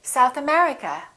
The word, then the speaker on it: South America: If the place has two words, we stress the second word. For example, South America, we say South America. United Kingdom, we say United Kingdom.